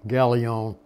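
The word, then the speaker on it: Gallio: I pronounce his name like the Greek, Galion.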